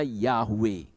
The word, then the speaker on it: Yahweh: IAUE itu bacanya Yahweh. Karena huruf Yunani tidak mengenal huruf Y, tidak mengenal. Kalau Y ya nulisnya IE, ya nulisnya IA.